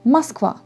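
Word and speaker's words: Москва: prononcé avec a donc par exemple mons quoi on écrit avec oh mais on ne prononce comme à mas quoi mais il ya des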